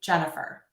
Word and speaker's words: Jennifer: second example that happily, I am actually shortening or reducing one of those syllables to the schwa or the That's that sound in the middle of the word happily. It's also in my name, Jennifer.